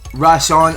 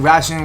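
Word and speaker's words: Resh'an: His name was pronounced Rashawn. So forgive me if I pronounce his name wrong, because I thought his name was going to be pronounced Ration or Rishan or Rishan or whatever. I'm not making any sense, but nah, it was just pronounced Rashawn.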